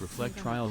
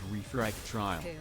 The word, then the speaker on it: Reflectrial: It's reflect trial, not refract trial.